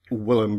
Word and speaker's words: Wilhelm: Also the work of uh William Reich or Villim Reich, I should perhaps pronounce that.